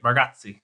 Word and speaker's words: Bargatze: did you read that Nate Bargatze? I'm pronouncing everyone's name wrong. Bargatze? No, you did great. Bargatze.